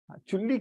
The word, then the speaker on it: चुल्ली: यहां पे ध्यान दीजिएगा. ल is half. You have to pronounce. चूली मत बोलिएगा. चूली बोल देते हैं काफी लोग. सम पीपल दे से चूली. अनिल चूली. चूली नहीं है because it has a half ल. So chulli.